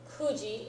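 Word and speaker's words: 九時: Okay, and then Hachiji, Kuji is the other oddball pronunciation.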